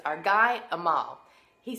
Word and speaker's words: Amal: It's our guy, Amal. He says, my name is Amal, and it's spelled like anal, A-N-A-L, but you take the N out and you put in an M.